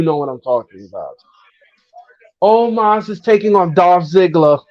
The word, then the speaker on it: Omos: No, It's not almost. it's He, Omos.